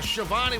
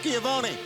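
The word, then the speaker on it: Schiavone: action time shiva ah shavani whatever your real name is giovanni chavoni like jericho would say featuring 2.0 you son of a gun well being from new york you should know it's pronounced skiavoni fair point the following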